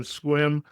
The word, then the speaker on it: Sequim: work, and I say I'm so glad to be here visiting in Squim, you're going to know Howard. He's done his homework here. That's right. We know that you know somebody if you say it right the first time.